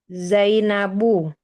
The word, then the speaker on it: Zainabu: Ibu Dedek ini baca Zainabu. Kenapa Zainabu? Karena nama perempuan. Betul.